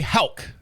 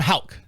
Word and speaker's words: Haugh: And joining us here in the studio this week is Haugh. Did I say it right that time? Haugh.